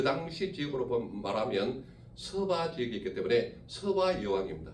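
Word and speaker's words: 스바: 남방 여왕이라 하면 이 당시에 어디 나라냐면 바로 서바 여왕, 성경에는 시바 여왕이라고 나와 있죠. 지역은 그 당시 지역으로 말하면 서바 지역이 있기 때문에 서바 여왕입니다. 서바 여왕.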